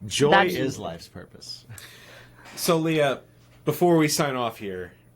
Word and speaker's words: Lea: Again, my name is Leah. It's spelled L space E space A. Pretty simple, but a little complicated for some.